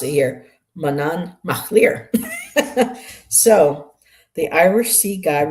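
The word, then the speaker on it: Manannán mac Lir: So they're telling us how to pronounce it here. Manan Machlir.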